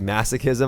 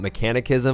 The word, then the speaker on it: masochism: started like this class it's actually masochism I used to call it mechanic ism I don't know why